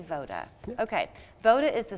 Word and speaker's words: Voda: Oh, you did say Voda.